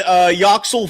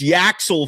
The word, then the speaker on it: Yoxel: And then another, and Yoxel Foley is the nickname until I hear something better. It ain't Axel Foley, it's Yaxel Foley, although it's pronounced Yoxel.